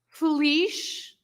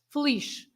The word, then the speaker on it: feliz: So, for example, if you say feliz, you also pronounce this Z as sh, the same sound as the S at the end, exactly the same. Sh, feliz.